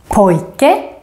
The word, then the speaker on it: pojke: And then finally, you can hear the grave accent, the accent that goes up, down, up, in words with two syllables with typical Swedish ending, such as pojke, rolig, and also in compound words, two words put together, such as lastbil, sjukhus, brandman. And also in this group,